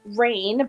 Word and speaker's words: Ryne: And her ladybug familiar, which is named Rain, but it's spelt Ryne.